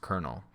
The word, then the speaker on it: colonel: Even though it looks like colonel, it's pronounced colonel. So this is our first vocabulary word. A high-ranking military official. That's what a colonel is.